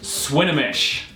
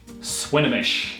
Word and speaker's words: Swinomish: This city is pronounced Swinomish. Swinomish.